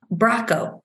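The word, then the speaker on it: Bracco: From Braco, rhymes with taco.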